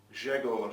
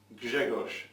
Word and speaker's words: Grzegorz: well earlier on from Grzegorz. Is that correct pronunciation? Grzegorz. My mum's Polish, so she's giving me a bit of coaching here live in the room.